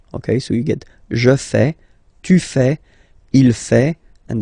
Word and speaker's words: fais: form, so the same form that you will pronounce. Okay, so you get je fais, tu fais, il fait, and then elle fait.